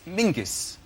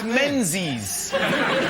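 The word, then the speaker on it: Menzies: His name is Mingus. Mingus. Yes. Scar. Yeah. Ming. Yeah. But it's pronounced it's it's spelled M E N Z I S.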